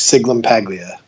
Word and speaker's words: Sciglimpaglia: everyone's wondering when you say my name is sigmund Paglia because I know that that's like a really